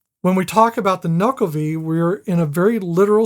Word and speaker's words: Nuckelavee: But it's spelled much different. I know, Yeah. but it's Nuckelavee, which he translated as devil of the sea, Okay.